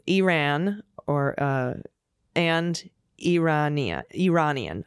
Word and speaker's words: Iran: Corrections next up Elise please pronounce Iran as its people do Iran or uh and Iranian